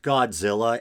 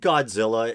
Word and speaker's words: Godzilla: that and i think isn't godzilla his name is supposed to be pronounced gojera i think or something like that